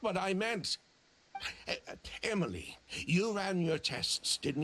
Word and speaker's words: Emilie: market response proved that it's pronounced Emily I I pronounce it Emily am I stupid that